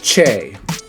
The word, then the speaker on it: che: Now this sound does exist in the Spanish, in the English language, like chop, alright, chips, alright. But in Spanish it's che.